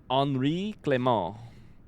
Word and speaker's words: Henri Clément: Henri Clement, pronounced Henri Clément. I'm so good at French.